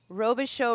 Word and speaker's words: Robichaux: g n a aroba robish show real estate pom so robish show is spelled r o b is in boy i c h Au u x for x-ray all right perfect we're